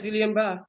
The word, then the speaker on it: Guillain-Barré: Am I pronouncing it properly, Dr. Abbey? Yes, Guillain-Barré. You're right. Guillain-Barré, okay.